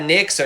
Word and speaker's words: Nyx: So, today we're going to talk about Nyx or Neeks or however you want to pronounce it. I'm going to switch back and forth. I couldn't decide. I've heard both pronunciations. I feel like Neeks is probably a little bit closer to the original Greek, but I think Nyx